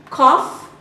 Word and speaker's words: cough: Donut, cough, hiccup, plow, rough. Donut. The sound is O, as in crow. Cough has an off sound, as in office.